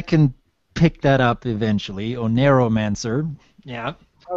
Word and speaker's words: Oneiromancer: The name it's pronounced TheOneiromancer. Oneiromancer, okay.